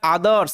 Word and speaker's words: others: টি এইচ ইয়ার তার সাথে এস আছে এটার আদারস এরকম ভাবে উচ্চারণ হবে কেননা আমরা জানি যে ও টি